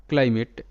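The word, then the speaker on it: climate: এ টি ই মেট ক্লাইমেট তো এখানেও কিন্তু আই এর পর একটা কনসোনেন্ট এম রয়েছে তারপর ভাওয়েল এ আছে তার মানে আই এখানে আই হিসেবে উচ্চারিত কিংবা আই হলো ভাওয়েল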